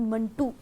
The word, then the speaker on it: منٹو: मिंटो को तो चले हम उस तरह से प्रोनाउंस ही नहीं कर रहे, वो तो एक और चीज़ का नाम है, लेकिन ये दरअसल ख़ुद सादत हसन मंटू ने कहा कि ये मंटू है।